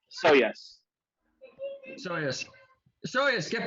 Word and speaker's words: Shoujas: sojos so so yeah so basically it the j is just a y so yes so yes show us